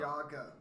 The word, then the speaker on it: Yaga: It's Yaga. I can write it down. I did, and I still cannot read it. It's Ya. I get the Ya. No, just Ya dash G. Oh. 2 syllables.